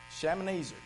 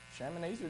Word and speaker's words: Shalmaneser: But militarily, there were, make sure I get this pronounced correctly here, Shalmaneser.